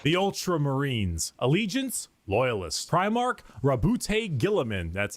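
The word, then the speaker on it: Roboute Guilliman: Rowboat Gorilla Man. What's happening? Primarch, Rabute Gilliman.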